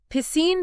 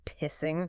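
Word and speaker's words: Piscine: Pissine became a source of relentless childhood torment. Constantly mispronounced by his peers as pissing.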